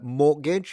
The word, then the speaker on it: mortgage: Uh mortgage, yeah, it's not pronounced.